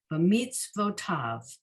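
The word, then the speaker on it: בְּמִצְוֺתָיו: Pronunciation is b'mitzvotav.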